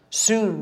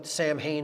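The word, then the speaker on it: Samhain: so in pronounced so and it looks like sam hayne in english but it's pronounced so in uh in gaelic and that is halloween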